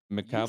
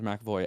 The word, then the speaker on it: McAvoy: Second up, we have Speak No Evil, the horror movie with James McAvoy.